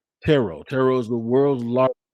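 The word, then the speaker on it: Turo: or today's episode is brought to you by tarot not t-u-r-o but it's pronounced tarot tarot is the world's largest sharing marketplace with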